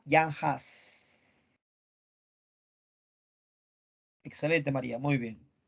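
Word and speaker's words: Jan Hus: nada excelente maría seijas se escribe juan hus pero se pronuncia yanhaas excelente maría muy bien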